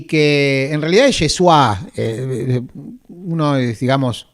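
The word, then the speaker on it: ישוע: que en realidad es Yeshua eh uno es, digamos, es como se pronunciaría hoy en hebreo moderno, Yesua, eh la palabra es más larga en realidad.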